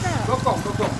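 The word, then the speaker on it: dokong: How do you pronounce it? Gok. D-O. D-O. K-O. K-O. N-G. N-G. Gokong. Gokong.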